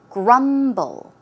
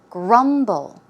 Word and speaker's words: grumble: eaten the pronunciation is grumble grumble the stress goes on the first syllable one more time grumble and a synonym would